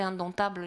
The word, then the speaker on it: indomptable: le pur pour dompter indomptables j'ai pu le trouver on a toujours la suggestion attention ne prononçait pas le p et on a en